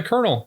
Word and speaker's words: colonel: versus the colonel the colonel kind of an interesting word you you want to think that it's pronounced the way that it is in fact it's spelled nothing like the way that it's pronounced I quite frankly am